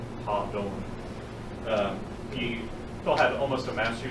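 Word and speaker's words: Hadon: So a lot of people say Hayden. Phil pronounced it Ha-Don.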